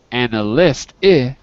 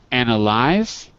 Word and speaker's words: analyze: one form to another so instead of analist we have anal I the vowel changes sound an analis no no wait a second analyze the verb yeah to